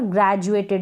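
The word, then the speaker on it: graduated: और यहाँ पर ग्रेजुएटेड, इसको हम ग्रेजुएटेड पढ़ रहे हैं।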